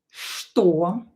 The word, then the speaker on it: что: Uh this combination usually is pronounced as "sh" "to". Што.